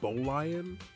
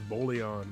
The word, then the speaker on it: Bolion: Is that how you pronounce It's Bolion. I mean, that makes sense cuz they they look like like little lion statues. Like that's what they're based on. But I thought it was Bolon, bro.